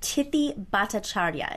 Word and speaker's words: Tithi Bhattacharya: I do need her to correct the pronunciation of her name so I get it right, but Tithi Bhattacharya, is that, did I get it?